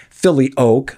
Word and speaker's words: filioque: debate was called the filio Quay controversy we briefly touched on in an earlier episode episode there's a debate over the pronunciation of Philo some say Philly o others Philo take your pick the point is the